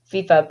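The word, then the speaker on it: FEFEA: a f-e-f-e-a right huh how do you pronounce that acronym well it's fifa but it's an acronym can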